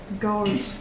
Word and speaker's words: ghost: Ghost. Ghost, right. Okay, it is ghost. So if you see a GH at the beginning of a word, usually G.